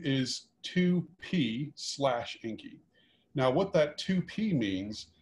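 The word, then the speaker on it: Encke: it's the same object it's called the um the comet is called inky uh e-n-c-k-e it might be pronounced a slightly different way it's like halley's you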